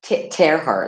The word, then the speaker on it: Terhart: Let me um um Teheart, I pronounced that right. Right. Tearart, like tearing.